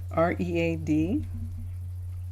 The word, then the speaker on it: read: R-E-A-D in English is past tense and present. When it's present, you say you read something, and when it's past tense, it's like the color red.